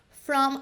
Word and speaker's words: from: From an illness. From, de novo, termina com M, tem esse som de M no final.